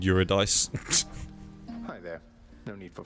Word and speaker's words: Eurydice: Yeah, I would not have pronounced that as whatever she just said. I would have said Eurydice.